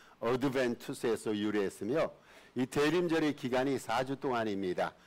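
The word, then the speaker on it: adventus: 그 애ent라고 말하는데 오다라는 뜻의 라틴어인 애드벤투스 제가 그냥 발음나는 거 라틴어 발음 그대로 지금 읽었습니다. 어드벤투스에서 유리했으며이 대림절의 기간이 4주 동안입니다.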